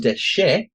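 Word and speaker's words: דשא: Pronounced dashar is a verb, but pronounced deshe.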